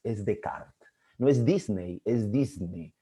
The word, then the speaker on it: Descartes: aparece la clase de harley no en la pronunciación no es descartes es de carga no es disney es disney no es nike